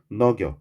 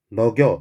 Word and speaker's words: 너겨: 내가 이것을 위하여 어여삐 불쌍히 너겨 지금 뭐라고 발음해? 여겨지 너겨 역시나 요 녀석 니은 소리를 첫 글자에 쓰지 않는다는 두음 법칙이 적용되지 않은 사례예요. 금방 쌤이 어떻게 하더냐? 너겨.